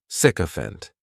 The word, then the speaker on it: sycophant: The next noun is sycophant and this noun has three syllables and the stress is on that first syllable. The spelling may throw people off to the pronunciation, but that sik is just pronounced sick. Sicopant.